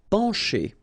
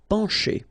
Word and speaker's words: pencher: Pencher. Okay, remember, E-N nasal, pen, pencher. Okay, C and H together will produce the sound sh. Pencher.